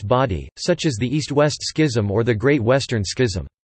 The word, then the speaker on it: schism: A schism, pronounced schism, schism, or, less commonly, schism, is a division between people, usually belonging to an organization, movement, or religious denomination.